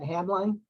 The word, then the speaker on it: Hamline: You pronounce that Hamline, Joan?